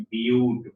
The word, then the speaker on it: but: चार कार्बन के लिए ब्यूट, बट नहीं बोलेंगे, BUT, ब्यूट। अब पांच कार्बन आएगा तो पेंट, PENT, पेंट, 5 कार्बन।